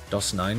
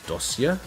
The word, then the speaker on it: Dosia: Doss 9 is pronounced as dosia. Oh, not me and every other guy in the world saying dos9 for the last 3 years. Is that because nine looks like a cerillic um character or something?